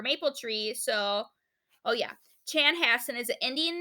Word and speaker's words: Chanhassen: their names similar so in case you couldn't pronounce Sal's mother's name it was Chanhassen so Chanhassen was an indian name and it